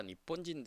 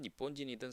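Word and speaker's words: 日本人: 그래서 뭐 니혼진이든 니폰진이든 상관없어요. 그래서 조금 이제 우리는 근데 이제 니폰진이라고 하는 것보다는 니혼진이라고 얘기하는 게 보통이라고 좀 생각이 듭니다.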